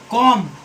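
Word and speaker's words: comb: कॉम। क्या? कॉम। सी ओ एम बी कॉम। तो यहाँ बी साइलेंट है।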